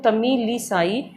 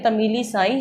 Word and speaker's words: तमिलिसाई: Pronounce कर देती हूँ, तमिलिसाई, तमिली। ठीक है, तमिलिसाई सुंदर राजान। ठीक है, आप इसको थोड़ा हाफ हाफ कर लीजिए, तमिली साई सुंदर और राजान।